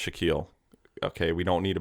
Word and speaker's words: Shaquille: happy 52nd birthday to Shaquil O'Neal nice I know his name is pronounced Shaquille okay we don't need